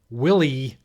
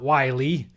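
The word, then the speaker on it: Willey: So for instance, I did figure out myself that Carl Willie, not Wiley.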